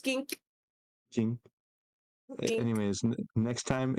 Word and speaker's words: kink: time you have teink technically it's pronounced Kink Kink anyways next time